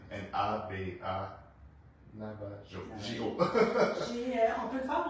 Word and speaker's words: Navajo: J'ai fait la méthode Navajo pour avoir 3 brins.